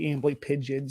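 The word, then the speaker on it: Amblypygi: let me know that the uh proper uh pronunciation due to it it's uh Greek origin would be ambly pigeon so I started using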